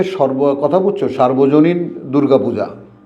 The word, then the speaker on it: সর্বজনীন: তাহলে তোমার পড়া তো সর্বজনীন সার্বজনীন না। এখন আমরা অনেকেই কিন্তু উচ্চারণ করি সার্বজনীন। এটা ভুল।